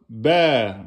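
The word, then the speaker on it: باء: Tableau de position de la lettre ba. Donc, quand vous la prononcez à l'infinitif, vous la prononcez en 2 temps. Ba. C'est comme ça qu'elle s'appelle.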